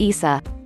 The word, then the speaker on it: Isa: In Arabic, the name is pronounced Isa.